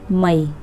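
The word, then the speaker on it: Mayee: That is answer will be, आपका answer होगा सी डी मई, सी डी मई, MAY मई, ठीक है। तो आप कुछ भी प्रोनाउंस कर सकते हो अपने अकॉर्डिंग, मई जो महीना होता है सी डी मई, ठीक है।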